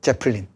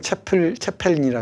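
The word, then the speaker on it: Zeppelin: 그 레드 제플린의 그 제플린, 독일어로는 채펠린이라 그러죠.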